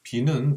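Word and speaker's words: 否: 비는 부정한다고 할 때는 부로 읽지만 주역의 괴로 읽을 때는 막힐 비, 비색할 비라고 읽습니다.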